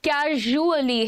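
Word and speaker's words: casually: Pronunciation सुनिएगा, इट इज नॉट कैजुअली, कैजुअली नहीं है ये, कैजुअली भी नहीं है, कैजुअली है। ट्रेजर, प्लेजर, कैजुअली ज है ये, है ना।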